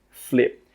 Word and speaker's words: flip: Egg flip. With that final P sound, we stop the air from coming out.